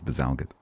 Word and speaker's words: Bazalgette: I think it's Bazalgette. In the same way that people who climb Everest call them the Himalayas. Bazalgette.